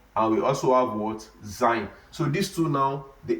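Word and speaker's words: زاي: So this Zain now, it also has English equivalent. So the English equivalent of this Zain is what? Is we can say zebra.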